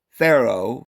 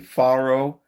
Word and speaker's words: farro: Specifically in Italy, Emmer known there as Pharaoh. Most people today will say pharaoh, but it if you look in the dictionary, it's actually farro.